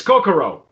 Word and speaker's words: Kokoro: the tequila is called cocoa i hope i'm pronouncing that correctly coco it's co it's coco it's kokoro uh even the logo is kind of like